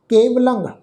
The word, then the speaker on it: केवलं: केवलं लल्ला अखर, उहदे उत्ते टिप्पी की मात्रा का नासकी उच्चारण केवलं।